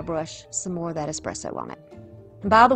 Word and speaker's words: espresso: And by the way, thank you to one of my viewers who told me that it's pronounced espresso. My whole life, as country as I am, we have said espresso. That is incorrect.